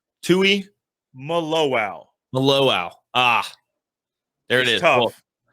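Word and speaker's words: Tuimoloau: you taught me how it's said, but JT Tua Maluau? Tui Maluau.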